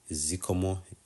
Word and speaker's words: zikomo: may be your most common phrases so Z zikomo it's pronounced zomo just means thanks however you can